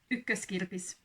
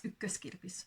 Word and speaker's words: Ykköskirpis: And the funny thing is that I went to Ykköskirpis. Said it wrong. It's Ykköskirpis, sorry.